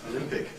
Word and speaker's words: Olympic: Now he'd been trained as an actor, he wanted to say Olympic, with this O in the first syllable, Olympic. But the producer wouldn't allow that. He said, no, that sounds ridiculously old-fashioned and fuddy-duddy. We want a young, dynamic image for this cigarette. You must say Olympic.